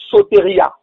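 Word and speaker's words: σωτηρία: Et en grec, ça donne sotéria. Le premier c'était sotérion, le deuxième c'est sotéria, qui s'écrit S-O-T-E-R-I-A, sotéria, en tant qu'un acte qui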